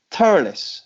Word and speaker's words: Thurles: us five races from the unlikely location of thoroughness that's the correct pronunciation DJ isn't it yep - you are